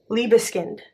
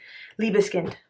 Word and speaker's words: Liebeskind: It's going to be with this Liebeskind. I said it right. Liebeskind.